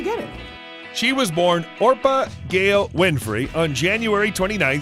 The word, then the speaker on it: Orpah: that's not a misspelling her given name was orpah a reference to the biblical figure in the book of ruth as a baby people regularly mispronounced the name as oprah which eventually stuck when she was six